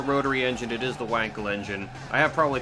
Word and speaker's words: Wankel: It's pronounced Wankel. What the fucking Germans? It's Wankel, technically.